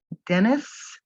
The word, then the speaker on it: Denys: starting in bad condition lord dennis spelled d-e-n-y-s i'll have you now dennis roll was born in 1925 and he passed away in 1797.